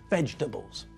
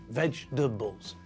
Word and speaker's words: vegetables: middle bit together so that when we say it the word only has three syllables vegetables vegetables i can think of